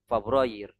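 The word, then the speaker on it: فبراير: Jadi dimulai dengan fathah. Fabroir.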